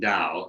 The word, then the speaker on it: Tao: know the the word dao it's pronounced with the d it's spelled with a t tao and it means